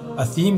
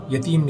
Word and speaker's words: اثیم: شجرۃ الزقوم طعام الاثیم، تو ایرانی صحابی کی زبان سے اثیم کے بجائے یتیم نکلتا تھا۔ بہت کوشش کی لیکن